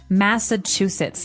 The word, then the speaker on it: Massachusetts: went in the United States is called Massachusetts Massachusetts now this is a very long very hard to pronounce word and I believe it comes from